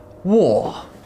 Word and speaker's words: war: only two sounds or the r in the spelling is not pronounced in the word itself or if the next